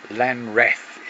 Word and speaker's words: Lanreath: Lanreath is how it's pronounced, and that's us going across in the